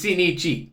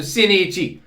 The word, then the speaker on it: Shinichi: It's Shinichi. We got to pronounce the I after the N, which is pronounced as an E because it's an I. And in Japan, the I's are pronounced like E's. So Shinichi. But the E is never said. Ever. It's so subtle, you barely pick up on it.